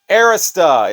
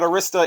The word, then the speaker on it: Arista: Arista. It's not Arista, it's Arista, and I watched 3 different Clive Davis videos.